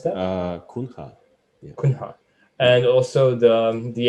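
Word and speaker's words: Cunha: Dilip Da Kuna, is that the way how to pronounce that? Kunha.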